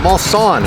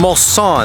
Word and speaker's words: Mulsanne: Bentley Mulsanne. Mulsanne. It's Yeah. a Mulsanne.